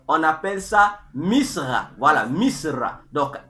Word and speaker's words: Misra: mir ou Mistre c'est pas comment il faut prononcer ça donc mistraï au pluriel et au singulier on appelle ça Misra voilà Misra donc m i s r Misra ça c'est